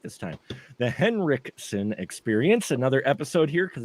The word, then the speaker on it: Henriksen: okay it is the henriksson experience see I pronounced it right this time the henrikson experience another episode here because it's henriksson experience